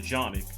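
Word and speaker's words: Canik: uh it was a A canic or if you want the actual Turkish pronunciation the the janic um Instagram page that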